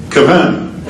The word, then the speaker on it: Kavanaugh: And so I lost the ability to pronounce his name right. Brett Kavanaugh. Kavanaugh, sorry.